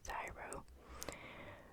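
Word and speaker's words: CSIRO: were granted to s c s i arrow pronounced zyro but with the huge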